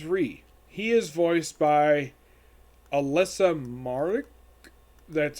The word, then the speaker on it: Alyssa Marek: his name is ree he is voiced by alyssa marek that's how you pronounce her name i it's okay i don't